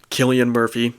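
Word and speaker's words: Cillian Murphy: the acting is fantastic Killian Murphy that is how you pronounce his name by the way I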